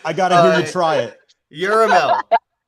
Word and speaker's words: Yerahmeel: Yuramel, that was good. I take it. It's It's got an extra syllable in it. Mela Yeah, it's like with a D. It's Hebrew.